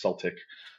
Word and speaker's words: Celtic: Uh, I, every British person or Irish person I've ever met has told me to say Celtic, so I don't know who the fuck that was that corrected me a couple weeks ago, but I'll say it right for you this time, I guess. Celtic.